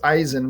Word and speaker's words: Eisen: Asin is the word for in German it's Eisen which is the word for iron and uh